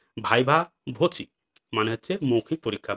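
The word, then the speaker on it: viva voce: পরের শব্দ হচ্ছে কি ভাইভা ভচি। দেখো উচ্চারণ দেখো ভাইভা। আমরা শুধু ভাইভা বলে ছেড়ে দিই, কিন্তু ভাইভা কিন্তু ওই ওয়ার্ডটা সম্পূর্ণ ওয়ার্ড নয়। সম্পূর্ণ হচ্ছে ভাইভা ভচি।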